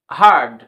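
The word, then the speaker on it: hard: আর এম ফারম এইচ এ আরডি কি হবে হারড কিন্তু এখানে কিন্তু আছে এটা কিন্তু আমেরিকার কান্ট্রিতে এটি একটু আর লেটার উচ্চারণ শোনা যাবে কিন্তু ব্রিটিশ কান্ট্রিতে বা ব্রিটিশ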